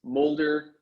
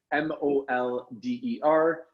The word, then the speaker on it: Molder: just Google my name, Mulder, like Fox Mulder, X-Files for all you sci-fi freaks. So that's Molder.